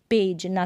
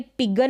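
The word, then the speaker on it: pigeon: पेज, पेज ना कि पेग। अब ये पिगन नहीं है, इसको पिजन पढ़ेंगे।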